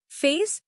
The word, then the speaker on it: FAISS: LangChain Hugging Face gives us free, local embedding models, no API key needed. Face, pronounced face, is Facebook's vector search library, fast, free, runs locally.